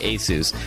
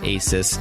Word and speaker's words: ASUS: us forward slash radio the company is pronounced aces but if you want you can call it Asus like all my friends do wishing you all a